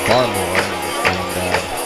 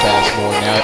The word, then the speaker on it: Bassmore: Well, you heard the PA announcer mispronounce his name, Barmore. And if you didn't know Bassmore, now you do.